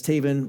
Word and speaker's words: Tavan: That's Tavan rhymes with Raven.